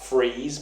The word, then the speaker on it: Fries: freeze now he was known as Victor freeze but they spell it like fries as in like chip like Victor fries but obviously nothing that's